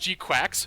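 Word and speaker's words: GQuuuuuuX: Gundam Series today uh it's called or it's pronounced G quacks which is very funny uh but just because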